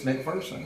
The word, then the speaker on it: McPherson: said god damn it i know how he pronounces his name it's mcpherson and and i got it well my best